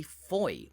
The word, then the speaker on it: Fowey: be pronounced Foy but it's actually Foy which rhymes with boy this appears rather counterintuitive